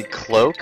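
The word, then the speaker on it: Kloak: And that guy there is a Cloak, spelled with a K, and he throws things.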